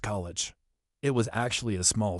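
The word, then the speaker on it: Colewich: She knew the town which the locals pronounced college.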